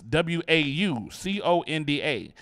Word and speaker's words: Wauconda: It's Wauconda, not like Wakanda, Wakanda. Someone called and asked how we pronounce the village name, and when I told him, they began yelling Wakanda forever.